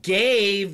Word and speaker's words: gave: gave you my heart so gave that's a long a along a pronunciation okay but the law a the perfect long a is actually a diphthong and we say a a so gave the perfect pronunciation is gay gay okay that is perfect